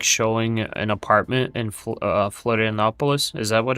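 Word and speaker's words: Florianópolis: A guy was like showing an apartment in Florianopolis. Is that what it's called? Oh yeah. Yeah, it's where I live. Is that how it's pronounced? Florianopolis? Yeah, yeah, you're right on the Florianopolis?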